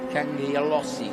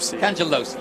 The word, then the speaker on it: Cangialosi: Cangialosi, that's how you pronounce it. Cangialosi? Cangelosi, yeah, that makes sense. So, I had to ask him before this, make sure I get it right.